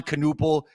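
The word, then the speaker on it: Knueppel: I wanted to talk about why people sleep on players like Con Knuppel and Scotty Barnes and Jalen Johnson, and then I see this thumbnail.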